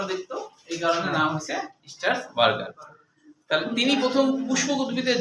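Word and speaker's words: স্ট্রাসবুর্গার: প্রথমে আমাদের মনে রাখতে হবে স্টার্সবার্গার। হ্যাঁ বুর্গার না, আসলে স্টার্সবার্গার হবে। হ্যাঁ বার্গার উচ্চারণটা আসলে বার্গার, বুর্গার না, স্টার্সবার্গার।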